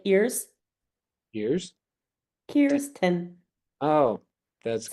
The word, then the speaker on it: Kirsten: So, Kristen, Kristen, I'm so sorry if I keep calling you Kristen. 10. Huh? Like ears. Ears. Kirsten. Oh, that's how you pronounce it. Kirsten. K. Ears. Ten. Now Kirsten.